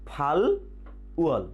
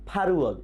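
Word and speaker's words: 팔월: তাহলে আগস্ট মাসটা আমরা কিভাবে বলবো? ইয়েস, ফাল উয়ল, ফাল উয়ল, কিন্তু উচ্চারণ হবে ফারুয়ল, ফারুয়ল, ফারুয়ল।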